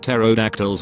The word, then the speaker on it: pterodactyls: existed i feel like pterodactyls would be a nuisance they would urinate all over us and we wouldn't even notice you would probably notice it just not hear it the p is silent just finished up collecting